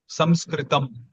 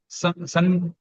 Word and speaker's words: Sanskritam: variation is, we pronounce it using the nose, like which resembles the sound of na, but it is not na. Sanskritam.